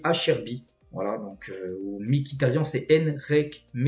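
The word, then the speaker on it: Acerbi: Et du côté de l'Inter, donc par exemple à Serbie, il faut dire Acherbi.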